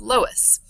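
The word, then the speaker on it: loess: Um and it can form silt dunes and it's pronounced lowest.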